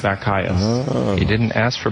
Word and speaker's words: Bacchius: A Bacchius is a metrical foot of 3 syllables, the first short, the other 2 long. So it's da-dum-dum. Da-dum-dum is a Bacchius. Bacchius.